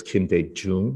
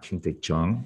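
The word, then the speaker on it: Kim Dae-jung: president kim's uh name it's kim de jung not king de chang um but i didn't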